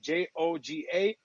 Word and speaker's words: Djoga: D and J, but I've tried to teach people pronounce it like this. They still mess it up. So me keeping the DJOGA and still asking you to pronounce it Joga.